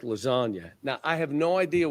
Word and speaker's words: lasagna: you don't understand that the G is silent in lasagna.